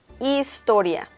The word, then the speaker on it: historia: Story is historia. Historia. So once again, the letter H is mute.